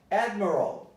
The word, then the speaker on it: admiral: Admiral, the stress is on ad.